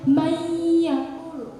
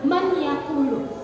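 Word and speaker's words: مَن يَقُولُ: Tapi karena nun mati bertemu dengan ya, yang dihukumi dengan idgham biguna, dibaca dengung, ditahan 2-3 harokat, itu bacanya mayyakulu.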